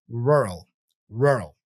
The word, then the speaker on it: rural: your tongue all right imagine you are roaring like a lion to intensify the r sound record yourself saying Rural and compare it to a native speaker's pronunciation in media for example so yeah imagine a lion like or a pirate you know Pirates go you know R so practice that sound okay rural rural the